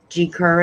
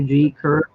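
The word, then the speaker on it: Gi Kerr: G. Kerr is. I think her name is pronounced G, not G-I. Oh, it is G. Okay, G. Kerr. I think it's G. Kerr, yeah.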